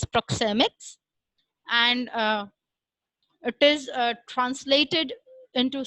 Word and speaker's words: proxemics: It is pronounced as proxemics, and it is translated into simple terms as space language.